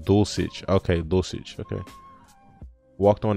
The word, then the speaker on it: Dulcich: i guess size uh says he pronounced dosage okay dosage okay walked